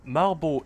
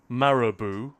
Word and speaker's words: Marabou: Now, Malbot is just... that's how they pronounce it in Danish. We don't really have that brand over here in the UK. But Marabou, I guess you'd say, if it were British.